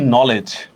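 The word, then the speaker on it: knowledge: কিন্তু দেখেন তো আসলে কের উচ্চারণ কি এখানে হয়? হয় না। ডাব্লিউর উচ্চারণ হয়? হয় না। ডির উচ্চারণ কি হয়? হয় না। দেখেন, আমরা বানান লিখতেছি কনোলেজ, এই টাইপের, কিন্তু উচ্চারণ করতেছি নলেজ, ঠিক না?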